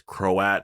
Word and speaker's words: Croat: about the crow at which by the way it's how you say his name I heard the actor pronounce it it's croat so I know exactly